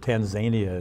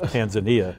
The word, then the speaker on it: Tanzania: But okay, President Trump just pronounced it Tanzania instead of Tanzania in a national address.